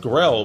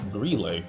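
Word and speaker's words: Grelle: His name is pronounced Grille. I thought it was pronounced Grell, but it's Grille.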